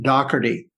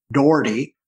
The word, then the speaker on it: Dougherty: we have joseph william dougherty he pronounced his name dougherty and spelled d-o-u-g-h-e-r-t-y in prison he was known as doc well while we were investigating this case most of us pronounced it doherty so forgive me today